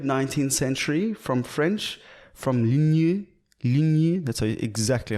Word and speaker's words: ligne: So lingerie, I was actually just searching it now, comes from mid 19th century, from French, from ligne.